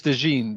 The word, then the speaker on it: DeJean: I've also heard it pronounced Cooper DeJean and DeJean. So I'm not sure the exact. It is DeJean.